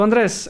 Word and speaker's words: Andrés: So Andres, I know they refer to you as Medaglia in Colombia, but do you prefer Medaglia itself or Medaglia, like in Italian?